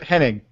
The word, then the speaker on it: Henning: So yeah, check out I'm sorry, Henning? Is that how you pronounce it? Yep, Henning.